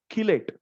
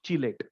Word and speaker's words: chelate: Otherwise, you will pronounce it as chelate. It's chelate and not chelate.